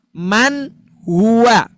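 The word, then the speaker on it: مَنْ هُوَ: Ya, contoh man hua. Man hua jangan man. Salah man hua. Nah, itu baru betul.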